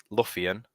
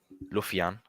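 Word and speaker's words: lufian: uh old english uh uh pronounced luffian luffian i think that's how you pronounce it l-u-f-i-a-n is to feel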